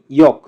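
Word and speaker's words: 이응: ইয়ং এর উচ্চারণ হবে অনুষ্কার অথবা উয়ের মতো।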